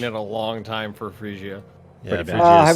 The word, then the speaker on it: Phrygia: How do you say that? Is it Phrygia or Phrygia? Phrygia. Phrygia? Phrygia. Okay, cool. Frigid. Okay. Mostly right. It's like fridge. Like fridge.